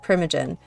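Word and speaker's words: Primogen: ] pronounce that word is it primagen I've always said primagen um I didn't build that out yet I've only been focusing on the anarchs right now but I'm I would be yeah dude if you want to that's how you pronounce it too that's amazing if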